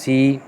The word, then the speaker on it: C#: Next language that is C number sign. Number sign basically इसको हम क्या बोलते हैं, इसको हम क्या पढ़ते हैं या क्या प्रोनाउंस करते हैं, वी कॉल इट C#। इसको हम बेसिकली C# बोलते हैं।